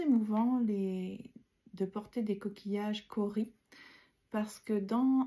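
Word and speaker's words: cauri: Cori, ça s'écrit C-A-U-R-I.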